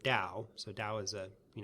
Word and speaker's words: Tao: the way jail system the tea is pronounced as a D okay so you need spell the word Dow so Dow is a